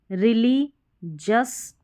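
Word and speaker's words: religious: तो GIOUS को जस पढ़ेंगे, GION को जन पढ़ेंगे, यहाँ पर भी जन, रिलीजस, रिलीजन, पिजन। तो इस तरीके से पिजन, पिजन करके इसका उच्चारण करेंगे।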